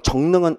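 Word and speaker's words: 정릉: 그러면 여러분 정능은 여러분 너무 평이하죠. 왜냐하면 여러분이 정능 그러면 얘가 여러 식구항 발음으로 정능이 되니까 얘는 의문 변동형으로 써야 되죠.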